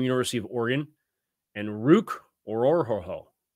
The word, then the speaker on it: Orhorhoro: Then Michael Hall from Ohio State, Brandon Dorlus from University of Oregon, and Ruke Orhorhoro. Said that right? Yeah. Orhorhoro?